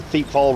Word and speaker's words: Thiepval: So today we're on Feetfall Ridge, and yes, that is how you pronounce it.